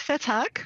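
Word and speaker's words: Vethaak: You're going to help me with pronunciation on his last name, Dick Vetak. Is that how he says it? Yep, very close. Vetak. Okay, very good.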